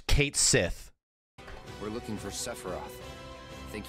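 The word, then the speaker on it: Cait Sith: Are we going to get the long-running, multi-decade argument where some crazy bastards think his name is Ket Shi? Is how you pronounce Kate Sith.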